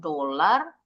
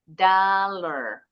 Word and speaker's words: dollar: Mata uang dolar bacanya bukan dolar. dollar.